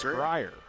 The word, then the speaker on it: Grier: Reese Reese Grier. We've been saying it wrong the whole time, guys. Grier is how it's pronounced.